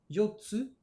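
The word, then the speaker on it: 四つ: donne hitotsu, futatsu, mitsu, yotsu, itsutsu, mutsu, nanatsu, kyatsu, kokonotsu. Alors vous voyez, pour 3, 4, 6 et 8, on a une petite pause qui se rajoute dans la prononciation.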